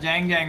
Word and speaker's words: Jang Jang: It's pronounced Jang Jang, my son.